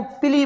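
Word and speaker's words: pili: Structure है, second वाली structure है बेटा, इसको पिली बोलते हैं। और बेटा इसकी स्पेलिंग होती है PILLI। इसको हम क्या बोलते हैं बेटा, पिली बोलते हैं।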